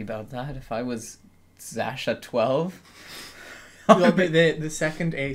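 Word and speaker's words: X Æ A-12: Congratulations to their new baby, Zasha 12. Yeah. Which, so if you're wondering, that's how it's pronounced. Yeah, apparently. So its X is like a Z. Yeah. The AE symbol is pronounced Ash, apparently.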